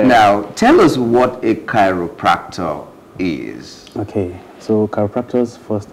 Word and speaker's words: chiropractor: In fact, when I saw the name, first of all, I was calling it Chiropractor. But that's not how it is pronounced. It's called chiropractor.